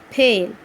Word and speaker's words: pale: For example, pale, PALE, pale. In this word, the A sounds long vowel sound and the E is silent.